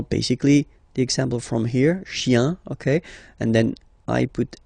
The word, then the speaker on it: chien: Remember, chien, singular form, chien, same pronunciation, but you put this S, okay? Final S, not pronounced.